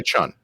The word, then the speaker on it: Chiun: I don't know how you pronounce it. Just say Chun. All right, because it's Chiun, which is a little weird.